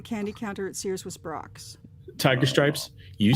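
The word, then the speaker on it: Brach's: I Well, you know, a just a tasteful note, it's pronounced Brocks, but it's okay.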